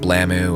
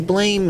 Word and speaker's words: BLAME!: blame sometimes called blam blammo or some other variation of a mispronunciation is a manga from